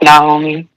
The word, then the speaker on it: Naomi: I I usually usually say Naomi. Um but yeah, it's pronounced Naomi. Naomi.